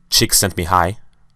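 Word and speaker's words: Csikszentmihalyi: flow states now psychologist mihai chick sent me high i think how you pronounce it stated in his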